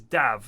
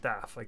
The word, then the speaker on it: Dav: Or it also is Dav, not Daf. I've mispronounced his name for years.